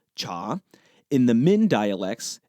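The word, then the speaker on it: 茶: In the Mandarin and Cantonese dialects, the pronunciation is cha.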